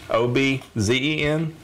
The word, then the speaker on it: ObZen: This is from an album called, I think it's pronounced Obzen, O-B-Z-E-N.